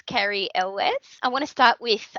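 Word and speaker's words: Cary Elwes: as well i actually found out how to pronounce carrie's name it's carrie ellis i want to start with wesley and princess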